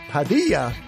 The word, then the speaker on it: Padilla: Padilla rhymes with Bonilla.